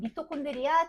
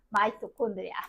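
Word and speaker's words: mitochondria: 된 친구 있어이 친구가 옛날 이름은 미토콘드리아 지금 이름은 야 발음 차예요 아지 이렇게 미식으로 쫓아가 마이토콘드리아 이렇게 미토콘드리아 마이토콘드리아 그게고 그다음에 식물세포에서 엄청 큰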